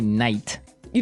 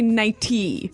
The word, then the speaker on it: nightie: But you don't say night. You don't say nighty. You say nighty. Yeah. You you make the t a d.